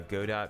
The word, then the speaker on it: Godot: my life thank you they say uh godot because it sounds like robot yeah and they probably